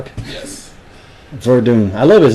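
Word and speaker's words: Werdum: Yeah, it's Fabricio Verdun. And uh spelled with a W though. Oh, but that's Brazilian.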